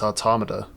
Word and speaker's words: Automata: day properly yeah so one of the guys is like it's otto and then mata and i'm just sitting there like no it's automata exactly that's like it's